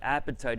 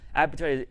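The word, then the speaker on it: apatite: being hungry etc but appetite is spelled a-p-a-t-i-t-e appetite is calcium phosphates which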